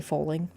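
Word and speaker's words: Fowling: But anyways, we we played foing even though it's spelled like fowl. A fo w. It's like bowling but with a football. So, you say foing.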